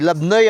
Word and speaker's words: Labnoy: Labnoy ang pronunciation pero Labn Mayantok, Tarlac.